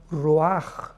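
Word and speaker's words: ruach: Y es importante porque la palabra vi entonces la palabra roaj. Roaj r u a c h. La ch en hebreo se pronuncia como una j roj que significa espíritus.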